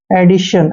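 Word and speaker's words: edition: Next देखिए EDI, इसको पढ़ते हैं एडी, एडी। और TION को शन पढ़ना है, एडिशन।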